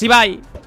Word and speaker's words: Ibai: Ibi, se pronuncia Ibai, ¿eh, amigos? Para la gente que no lo sepa.